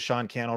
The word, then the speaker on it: Sean Cannell: So if you're just joining, my name is Sean Cannell, rhymes with YouTube channel.